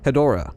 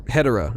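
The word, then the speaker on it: Hedorah: footage of the Kaiju hedora or hedera if you want to pronounce it that way in this cannon the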